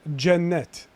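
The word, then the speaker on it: Cennet: it's pronounced yeah jennette it's jennet so it's it's spot c-e-n-n-e-t c with the like squiggle under it no it's just weird it's just like the way they pronounce c so what's it because my mighty with the line underneath it is actually pronounced ch but just c is j for some reason tux turks man bruv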